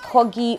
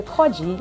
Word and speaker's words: Corgie: Okay, so Americans say Corgie. Me, I say Corgie.